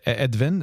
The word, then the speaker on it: Edwin: to make sure that the correct pronunciation is uh edin is that is that did I say it correctly yeah that's the Dutch pronunciation edin tables yep love that most yeah most people just call me Edwin traes yeah I I know